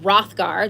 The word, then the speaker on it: Hrothgar: Okay, upon arrival to Denmark, Beowulf meets Hrothgar. So look right there as I'm reading. Hopefully you're following along. Hrothgar, that's how you say it. Hrothgar, Hrothgar.